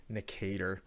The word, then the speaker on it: Nicator: Necator. It was Necator, right? Nicator. Nicator. That's right. That's how you say it. Nicator.